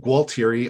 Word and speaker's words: Gualtieri: It's pronounced Gualtieri, although the reality is I probably say it differently half the time I say it.